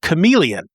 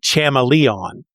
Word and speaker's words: chameleon: And for the main character, Ted, it was the word chameleon. He had always read the word. He'd never heard anybody say it out loud. Okay. Yeah. So he pronounced it chameleon.